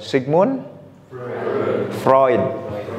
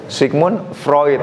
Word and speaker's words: Sigmund Freud: benar ya Stanley milgram Sigmund Freud bukan PR sigmun Freud gitu ya itu itu tuh penting